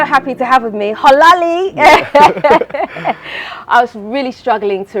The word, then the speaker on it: Xorlali: Xorlali. So Xorlali is from the Ewa tribe, from the Volta region. So yeah, our names are spelled, when it comes to X, it's pronounced H in the Ewa alphabet, Right, yeah.